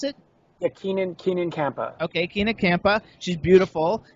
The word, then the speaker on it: Keenan Kampa: name is Ken kampa is that how you pronounce it yeah Kenan Keenan kampa okay Ken kampa she's beautiful she's uh I